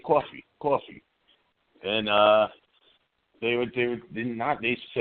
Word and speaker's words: Cawfee: And I just came up with the idea of Bada Bean as a coffee bean and using the right way of saying it, coffee.